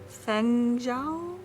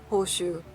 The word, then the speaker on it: Hoshu: It was Fengzhou? It's actually not a Chinese vase, it is Japanese, and so the proper reading is the Japanese way, Hoshu, which is the name of the brand.